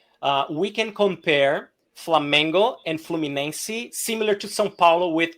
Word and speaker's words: Fluminense: Is that how you say it, or How do you pronounce it? Fluminense.